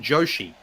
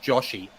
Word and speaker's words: Joshi: uh somebody pointed out that I keep saying Joi uh which is a running joke that I have because it is pronounced Joshi I call it ji it's a running joke